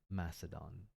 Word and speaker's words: Macedon: Macedon. Mm, not Mac.